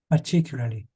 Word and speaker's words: particularly: They're putting the ly on the end. So obviously sometimes it's particular or particularly. Let's listen to how they say it. That's a more accurate way. particularly, Yeah, I think that's similar. Listen once again. particularly, Particularly. So I think she's emphasizing the I, particularly.